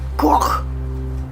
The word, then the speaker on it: Poppycock: No, you're saying it wrong. It's Cock. Like Coke, but with a little mustard on the O.